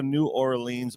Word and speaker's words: New Orleans: See, y'all pronouncing it wrong. It's New Orleans.